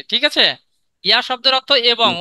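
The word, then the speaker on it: へ: হবে এ হে হ্যাঁ আমরা বর্ণ হিসেবে এটাকে হে পড়েছি কিন্তু এর উচ্চারণ হবে এ ঠিক আছে এই হে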